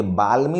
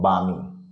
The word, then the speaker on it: balmy: तो एल बीच में आमतौर पे एल ए के बाद रहता है तो उसको नहीं पढ़ा जाता, उसका उच्चारण साइलेंट हो जाता है, ठीक है। तो ये बाल्मी लिखा हुआ है लेकिन बामी पढ़ा जाएगा।